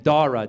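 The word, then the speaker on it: Dhara: to indianize it so she added a silent h after the D so now it's spelled d-h-a-r-a looks Indian is Iranian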